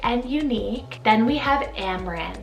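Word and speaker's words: Amren: it means delicate and unique then we have amran spelt a-m-r-e-n amran this possibly means lovely dragon so cool but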